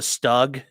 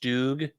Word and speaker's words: StuG: Why they call it a stug?" I mean, you could call it that, but it's it's pronounced stoog.